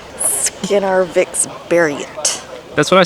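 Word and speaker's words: Skinnarviksberget: Skinnervikberget. Skinnervikberget. That's what I said. No, you pronounce the G as a G. G's are pronounced as a Y here.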